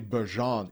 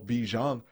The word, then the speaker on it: Bijan: du camp d'entraînement euh il a dit que c'était la bonne prononciation de son de son prénom c'est Bejan et non Bjan juste pris 3 ans